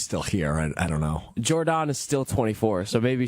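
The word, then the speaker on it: Jordon: Hudson or is it Jordan? It's Jordan, but you can say Jordan. Because that's how it's spelled. There's two O's. That's how Belichick fans say it, Jordan. Jordan Hudson. The casuals say Jordan.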